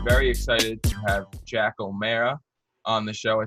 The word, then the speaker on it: O'Marra: excited to have jack o'mara on the show i said it right jack so for anyone who is wondering it's oh man yes not on aura or whatever but um pleasure to